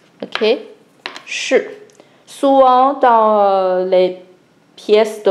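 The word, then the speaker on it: 士: Le garde, on l'appelle Shi. Ok, Shi.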